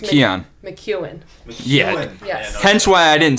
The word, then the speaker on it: McKeon: it again it's spelled m-c-k-e-o-n but it is pronounced mckeon mcewen yeah hence why i didn't say it right